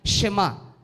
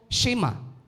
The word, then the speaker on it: Shema: to9 Lagi nating naririnig Ito po ay Shema yun ho ang pronunciation medyo mabilis sa Hebrew word Shema o shima from the Hebrew word